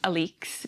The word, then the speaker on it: Alex: The woman's name is Alex, but she likes for it to be pronounced Alix because she's insufferable.